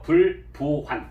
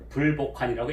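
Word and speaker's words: 不復還: 굳은 다짐을 하고 떠나는데, 여기서 보통 우리가 복이라고 읽는데 원래는 이것은 회복하다 할 때 복이고 다시 할 때는 부자예요. 그래서 원래는 부부환이라고 해야 되겠죠. 불부환 이렇게. 그런데 오랫동안 복으로 읽는 관행이 있어서 그래서 어쩔 수 없이 그냥 불복환이라고 읽었던 겁니다.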